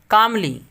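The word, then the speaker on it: calmly: कामली यानी सुकून से, इत्मीनान से, आराम से। एग्जाम्पल है ही डिड his work slowly and कामली, ही डिड his work slowly and कामली, यहाँ एल साइलेंट है।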